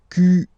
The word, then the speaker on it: quelle: Quel, masculine form here, will be pronounced exactly as the feminine form here. Quel. So only one sound, okay?